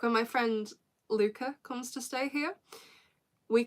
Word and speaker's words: Luke: And also it's spelled Luke, but because she's Dutch, it's pronounced Luca. So it's spelled L-U-K-E, but pronounced Luca.